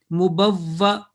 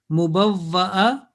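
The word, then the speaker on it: مُبَوَّأ: करें तो कैसे पढ़ेंगे, because this alif with fatha is a hamza, is a basically is a hamza, so we will deal like a hamza. Mubawwa, that will be the pronunciation in stopping. Mubawwa in continuation. Mubawwa, this is comes in Surah Yunus. Mubawwa, if we continue. If we stop, mubawwa, this alif was a hamza.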